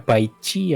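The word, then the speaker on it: Baizhi: Danjin, Cixia, Baizi, Baizi katanya bacanya Baici ya Baiji.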